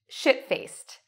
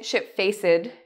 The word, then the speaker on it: shit-faced: Our second expression, shit-faced. Now, important how you pronounce the ED. It's like a T in this case, okay? So we don't say shit-faced. No, no, no. Shit-faced. Okay, shit-faced. What does it mean to be shit-faced?